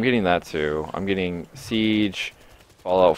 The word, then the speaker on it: Siege: and Rainbow Six Sage? Did you just call it Sage? Yeah. It's pronounced Siege, but yeah, I'm getting that.